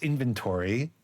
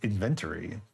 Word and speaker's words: inventory: I remember clearly was I would pronounce inventory as inventory which is how they pronounce it in England so it's a legitimate pronunciation it just sounds weird coming out of my American Mouth um but yeah this